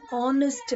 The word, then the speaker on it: honest: don't say honest ha h is not pronounced it is a silent word the right pronunciation is an honest man honest on and